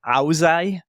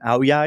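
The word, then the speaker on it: áo dài: And even recently, I heard somebody say auzai, which I'd never in 9 years heard it being called an auzai, because to me it's an auyai because we're in the south. So even that small pronunciation change, if anyone can hear the difference in what I said there, the G sound is a Z or a Y, depending on if you're.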